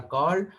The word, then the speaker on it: Kiel: इस कैनाल को बोलते हैं कील कैनाल। तो कील कैनाल इज इंपॉर्टेंट, याद रखिएगा, कील। तो KIEL इसकी स्पेलिंग है, मैं यहाँ पर लिख दे रहा हूँ, KIEL, कील कैनाल इज इंपॉर्टेंट।